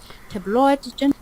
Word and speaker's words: tabloid: Tabloid and journalists, using these two together. tabloid But it's not tabloid, it's tabloid. The stress is on the first syllable. Tabloid.